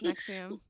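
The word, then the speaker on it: NXIVM: I've never heard anyone pronounce it. I've only ever read it. It's Nexium.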